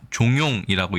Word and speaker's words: 慫慂: 일단 도금은 우리가 종용이라고 읽습니다.